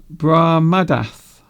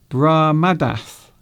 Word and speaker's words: Brahmadath: My name pronunciation is Brahmadath. Oh, okay then. Is that better? Is that better? My name's pronunciation is Brahmadath.